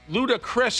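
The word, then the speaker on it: Ludacris: lud I love ludicrous ludicrous is how you say it yeah okay um he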